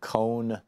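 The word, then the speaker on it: Cohen: talk about you know Michael Kohn apparently is how he pronounces his last name or Mike Pompeo and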